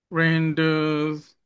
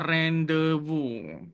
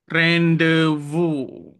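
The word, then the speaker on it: rendezvous: Kalau kamu menggunakan teknik ejaan membunyi, kamu eja sebiji satu perkataan, satu huruf ke satu huruf, kamu akan bunyi render tapi disebabkan English ini pelik, bunyinya adalah rendevu. Rendevo.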